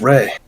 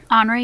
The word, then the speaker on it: Henri: I'm gonna lean back in my chair and say, "Ah, wait, where's Ray?" Henri, you mean? Henri. I skipped a syllable, right?